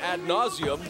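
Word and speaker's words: ad nauseam: Ad nauseum, with emphasis on the first part of that second word.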